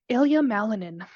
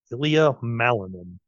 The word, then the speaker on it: Ilya Malinin: I'll let Rebekah give the name so it's pronounced right. Ilya Malinin. Ilya Malinin.